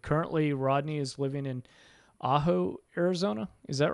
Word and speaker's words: Ajo: different classes and currently Rodney is living in Ajo Arizona is that right yep yep that's how you pronounce it perfect now Rodney as we get